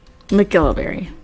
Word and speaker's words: McGillivary: to mcgillivary and Ritz that's how you say it mcgilliverry so that time is